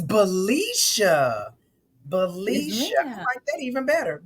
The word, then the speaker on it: Balisha: and gentlemen Malaysia Thomas and I think I pronounced your name right the first time didn't I is Felicia it's bellisha Felicia aren't that even better Felicia Felicia okay